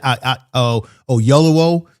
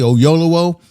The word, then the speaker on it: Oyelowo: about that, how disrespectful it was with David Oyelowo, if I can say his name correctly, Oyelowo.